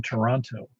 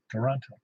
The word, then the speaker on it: Toronto: Well, if anybody, I grew up about 90 miles from Toronto, and everybody in the planet would call it Toronto, Toronto, Toronto, except that's not how they pronounce it. It's Toronto. It leaves out everything.